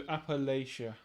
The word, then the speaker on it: Appalachia: Do I go Appalachia or Appalachia? So Appalachia. Yeah, I think from what mainly it's from Wendigoon videos that I found this out. Appalachia. So that's a different way of saying it than the other two. So there's three ways of saying it that equally would piss off Americans depending on which one I say.